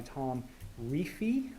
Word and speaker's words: Tom Reefy: was this piece submitted by Tom Reefy. That's how you pronounce his name. We had to ask him.